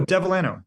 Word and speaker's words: Devellano: How do you pronounce Sorry? your last name? Oh, Devellano.